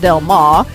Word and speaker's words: Del Mar: That's how you say it, Del Mar.